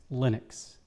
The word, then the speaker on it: Linux: No, he didn't even think he said his name, but he said, "I pronounce Linux Linux."